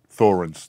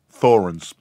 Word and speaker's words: Thorens: Thorens, TD-160. Pronounce it again? Thorens, T-H-O-R-E-N-S.